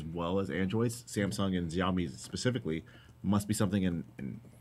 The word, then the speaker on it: Xiaomi: 0 day found in iPhone X, Samsung Galaxy S9, and Xiaomi, because that's how you say it, Doxy.